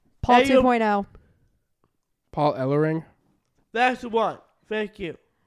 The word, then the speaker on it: Ellering: with the badass advocate of all advocates, Paul Ellering. Advocate of all advocates. Paul Ellering is one of my favorite advocates. Paul Oh my God. Everett. Alert? Everett. Paul Ellering. Ellerit.